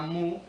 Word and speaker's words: mu: de un símbolo, una letra griega que se llama mu o que a veces se pronuncia también como new y que quiere decir